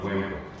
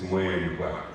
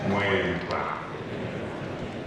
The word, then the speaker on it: Mweempwa: Actually, the correct pronunciation is not Mweempwa, it's Mweempwa. Mweempwa on your consecration, and thank you all for coming to worship and witness this character day.